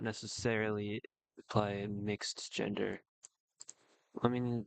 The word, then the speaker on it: Mx: most um pronounced to sound like mix or muk.